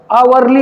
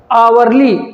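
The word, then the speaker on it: hourly: आवरली report आ की आवाज है।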